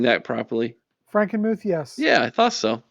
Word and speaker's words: Frankenmuth: Am I pronouncing that properly? Frankenmuth, yes.